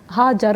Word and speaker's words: हाजरा: अच्छा, इनका नाम भी बड़ा सुभान अल्लाह, हाजर भी आया है जी, यानी हिजरत करने वाली। अच्छा, आजर भी आया है, और मल्टीपल प्रोनाउंसिएशंस उनके किरदार को, उनकी सीरत को और नुमायाँ करती हैं।